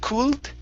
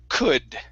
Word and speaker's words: could: is could instead of cooled the l is silent we do not pronounce the l okay it's could good good very good